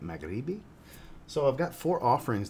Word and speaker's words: Maghribi: the brand Amed Al magribi I believe is how you say that magrebi so I've got four